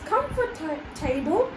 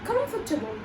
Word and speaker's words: comfortable: So the word table makes you think that it will also be table only, not taboo. So that's why instead of pronouncing it as comfortable, it should be comfortable. So it will be like KAM, like over here we are saying COM, and then the 4 over here is shortened and we say it F.